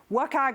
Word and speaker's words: WCAG: WCAG is how I say it.